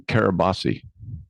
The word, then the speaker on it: Kiribati: Yeah, I have a listener in Kiribati. Okay. And I was like, I had to look it up. I was like, because that's not how it's spelled, but the T is Right. pronounced an S.